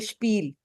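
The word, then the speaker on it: Spiel: और अगर एस पी हो कहीं पे वो स्प होता है, जैसे स्पील, स्पीलन, ठीक है।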